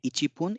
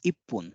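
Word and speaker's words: 一分: that poon the exceptions because this is not Ichibon the numeral is Ichi the counter is spoon but it is not Ichibon it is ippun that's why this is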